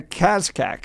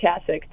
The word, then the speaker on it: Kasich: The C is silent. It's Kasich. Kasich.